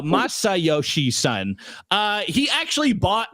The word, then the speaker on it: Masayoshi Son: but the CEO uh how do you say this guy? It's myoshi son. No masayoshi son.